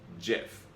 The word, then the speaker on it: GIF: The actual inventor of the GIF says it's pronounced GIF.